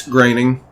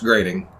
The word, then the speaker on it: Groening: groening did it and it is superb it's graining well on that same his name is pronounced grading grading no i had a quiz bowl question